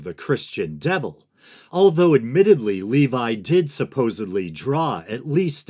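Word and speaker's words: Lévi: first Baphomet documentary that I believe I pronounced the name Eliphas Levi. But upon further research, it appears that Levi is the more proper pronunciation, so that's what I'm going to be going with.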